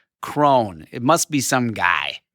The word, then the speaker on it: Crohn: It's C R O H N. Cone.